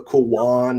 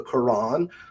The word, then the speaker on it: Quran: He used to say the kwan instead of the Quran.